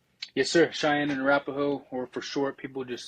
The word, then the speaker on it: Arapaho: flag the Cheyenne and Arapaho tribe did I pronounce that right yes sir cheyen and rapo or for short people just say CNA it